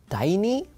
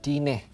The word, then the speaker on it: Dine: has mentioned it like dying is it dying or is it tiny but no it's pronounced as dine dine okay now let's let's